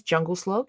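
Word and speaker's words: Djungelskog: His name is Jungle Slog. He's from IKEA. Uh, he's a queer icon. It's spelled DJ Slog.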